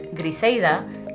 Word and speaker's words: Griselda: the northern Cibao region, where R and L sounds blend towards an I sound in everyday speech. This flows directly into names. Griselda, pronounced locally as Griseida, gets spelled the way it sounds.